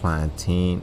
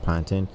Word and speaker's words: plantain: you just need a nice little plantain not planting you got me calling